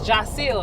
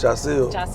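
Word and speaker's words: Jasiel: teacher say Robinson yeah or they cop me jel they couldn't say Jil or they they couldn't say it just all the kids pronounce it as J it's Jil though it's Jil and I just didn't care to keep correcting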